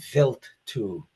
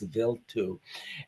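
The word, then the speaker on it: Wild 2: a little bit went to comet this is pronounced vilt 2. I don't know why it's spelled wild too, but it's pronounced vil 2. And uh this was actually once it visited vil 2, it was redirected to go back to uh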